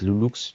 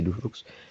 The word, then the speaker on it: Loulux: Donc, ça se prononce avec Loulux. Du coup, les gens, ils m'appellent Loulou. Moi, c'est pas Loulou, du coup, c'est Loulux.